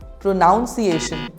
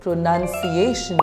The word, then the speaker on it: pronunciation: most commonly mispronounced word how do you say this word pronunciation incorrect the correct way to say this word is pronunciation the pronunciation of this word is a bit tricky moving on to our